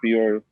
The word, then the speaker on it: Peoria: Yeah, Peoria.